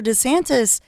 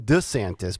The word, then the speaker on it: DeSantis: last night too he he pronounced his last name differently again he did he said decent yeah not wrong DeSantis but Ron D santis it happened during that